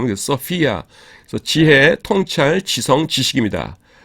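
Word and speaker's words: σοφία: 어, 그 대신에 이제 우리가 보통 일반인들은 발음을 소피아라고 하니까 이게 P인지 아시는데 P가 아니라 피입니다. F 발음. 그래서 소피아.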